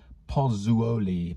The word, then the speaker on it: Pozzuoli: It's pozzuoli. Pozzuoli? It's an Italian word, or Roman word, pozzuoli, I guess, which is a mixture of pumice and lime.